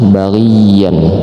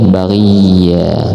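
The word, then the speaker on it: بغيا: Jadi tulisannya bagian tapi bacanya baghiya. Nah, ini harus ditekan juga karena ada tasdid. Enggak boleh bagi. Baghiya. Enggak boleh, tapi harus harus seperti itu.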